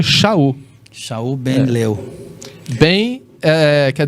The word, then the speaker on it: Shaul: E que em hebraico a gente pronuncia Shaul.